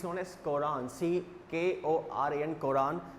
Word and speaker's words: Quran: हैं, English में it's known as Quran, C-K-O-R-A-N, Quran. It's pronounced like, will be pronounced the given one like Quran, okay.